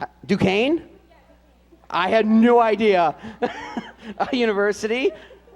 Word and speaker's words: Duquesne: wants to go how do you say this do questions duquesne i had no idea university oh he even put pronounced duquesne i didn't see that for major